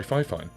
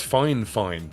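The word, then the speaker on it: Fifine: microphone k688 by by five fine oh by the way I've been pronouncing that wrong for years someone said to me it's fine fine it's f-i-f-i-n-e uni um there Oop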